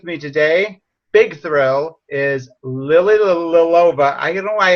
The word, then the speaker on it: Lilova: name how do you what's the proper way to say it it's uh i think it's just lily lilova lilly little aloha but there's a lot of l's there in a short